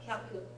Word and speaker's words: hyaku: Hyaku. 100, yes, hyaku. Not to be confused with hayaku, which is ha, full-size yaku, and that means quickly.